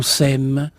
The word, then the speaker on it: sème: tout seul et qu'on sème. Ça s'écrit S-E-M-E, comme les petites graines, et aussi S'-A-I-M-E.